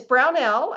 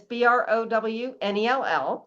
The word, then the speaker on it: Brownell: yes, it's Brownell. It's Brownell. So it's pretty much spelled how it sounds.